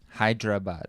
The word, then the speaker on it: Hyderabad: like i'm familiar i'm familiar and help us pronounce it one more time the city hyderabad hyderabad yes awesome okay and so you know if